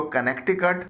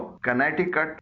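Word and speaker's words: Connecticut: America का एक सूबा है, उसका नाम है कनेटिकट, इसको कनेक्टिकट नहीं पढ़ा जाता है, इसको कनेटिकट पढ़ा जाता है।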